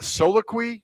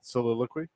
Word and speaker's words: soliloquy: Soloqui. No, soliloquy. Is that how you say it? Yeah.